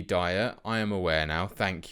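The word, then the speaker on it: Dier: of you that are correcting my pronunciation of dear it should be dire I am aware now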